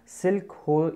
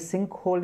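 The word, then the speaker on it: sinkhole: सो सिल्क होल जो होता है, सिल्क होल ऐसे in case not सिल्क, इट इज सिंक, sorry for the pronunciation, it इज सिंक होल इज फोनोमिना of dash topology, topography.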